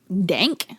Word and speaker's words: Denke: the Forgotten cannibal hmm Carl Bank dank yeah like dank ass weed bro I mean not exactly but how do I spell